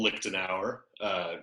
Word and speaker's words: Lichtenauer: go ahead alright so my name is lift an hour it's phonetically I'm Lee phonetic when you look at my last name what is that that is very very German Barry Lipton yeah lick to now is kind of like the Springfield of Germany